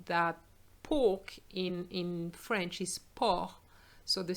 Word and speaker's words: porc: And then I'm showing you that pork in French is porc. So the C is not pronounced, but be careful because you have the word porc and porc is, you know, same pronunciation.